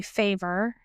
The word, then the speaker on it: Favre: Um, this one is going to be The Fall of Favre. Um, or if you would like to say Favor, either one.